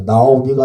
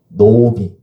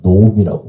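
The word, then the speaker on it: נָעֳמִי: 나오미가 아니라 노미 이렇게 발음을 하죠. 그래서 구차로면 나오미라고 읽어도 상관은 없는데 문법적으로는 우리가 정확하게 알면 노미라고 발음을 해야 합니다.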